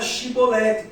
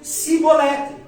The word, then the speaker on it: shibolete: A palavra era shibolete com ch. Mas a tribo de Efraim, por falar um dialeto um pouco diferente da tribo de Gilead, não conseguia pronunciar o CH com som de ch. Pronunciava o som de ch como som de f de s. Então ao invés de dizer chibolete, eles diziam cibolete.